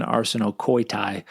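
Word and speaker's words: ἀρσενοκοῖται: Yeah, arsenokoitai, or according to the Erasmian pronunciation, arsenokoitai, it seems like a neologism.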